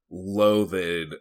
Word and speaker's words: loathed: first came out, I loathed Amanda Waller like hardcore. I'm sorry. It's just loathed. Loath. It is just loathe. It's loathed with a D at the end. It's It's one syllable.